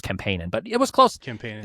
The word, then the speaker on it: Kempainen: You're not, but you can say it that way. It's actually, that's the correct Finnish pronunciation. I learned that from Children of Bodom. Kempainen is how they pronounce it, but I'm, you know, I don't have any, I don't know any Finnish or anything, so it's just Kempainen.